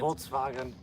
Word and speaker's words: Volkswagen: I like to say it like the Germans. Volkswagen.